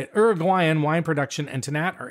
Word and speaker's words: Uruguayan: So the start of Uruguayan, that's how you say it, Uruguayan wine production and Tannat are intertwined.